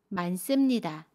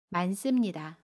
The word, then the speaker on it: 많습니다: 많습니다는 많습니다 라고 발음해요. 겹받침 니은 히읗 중에 첫 번째 받침 니은을 발음합니다. 그래서 만으로 발음하고요. 습은 씀으로 발음합니다. 많습니다.